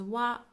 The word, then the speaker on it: は: a particle that you have already seen. It's particle wa, wa, wa. So this is a topic marking particle. It is pronounced as wa, wa, but we write it as hiragana, ha, ha.